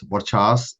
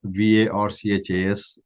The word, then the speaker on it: Varchas: So Varchas Reserve 102 are pronounced as Varchas, Varchas, V almost sounding like a W, Varchas.